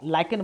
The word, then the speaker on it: lichen: लाइकेन बोलते हैं इसको, लीचेन नो, सॉरी लीचेन नहीं, लाइकेन।